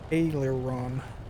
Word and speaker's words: aileron: bit it sounds like that's heavy Adler Ron Taylor Ron there we go I learned something mission accomplished